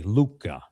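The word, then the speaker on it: Lucca: But it is called Luca, which is it but it's spelled with the Italian form, l u c c a, Luca.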